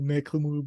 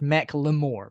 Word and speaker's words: Macklemore: The reason I listen to this is not just because Macklemore bad.